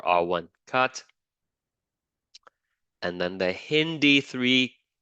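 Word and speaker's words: HindIII: And we are going to treat it with two restriction enzymes, EcoR1 and HIN-D3. That's how you pronounce it, okay? HIN, and then the D, and then that's Roman numeral 3, HIN-D3.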